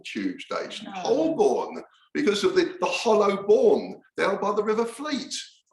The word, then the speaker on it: Holborn: because of the the hollow born down by the river Fleet well that was last year when we realized for all these years I've been saying whole born I mean I've been mispronouncing it so I'll try and